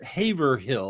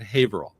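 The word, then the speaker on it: Haverhill: Uh and same thing with Haver Haver Hill. A lot of people think that's how it's pronounced but a lot of people that live there call it Haveril.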